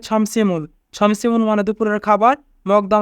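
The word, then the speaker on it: 점심을: এখানে বাচ্চিমের পরে ইয়ং থাকার কারণে মিউম ইয়ংয়ের স্থানে যাবে, তাই উচ্চারণ হবে ছমসিমুল।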